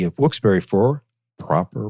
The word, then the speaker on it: Wilkes-Barré: I will not say who's doing it, but they say Wilkes-Barré like an animal, B-E-A-R. How do you get bear out of berry?